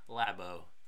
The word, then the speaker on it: Labo: in Koine Greek so let's go with lab oh yeah cuz it's like laboratory or is it like